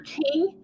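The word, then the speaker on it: Kueng: so i did confirm the pronunciation is j alexander king and tal tao they were convicted on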